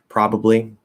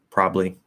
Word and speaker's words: probably: matter um probably probably we can just drop one of the syllables say probably um if you're speaking really lazily it sounds a little more informal if you completely drop the bees and you say probably probably i'll probably be there probably be there um